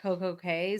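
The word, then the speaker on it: CocoCay: I have to say perfect day at Coco K so that I know that that's how they pronounce it. But then I and I know that the Bahamians pronounce it key.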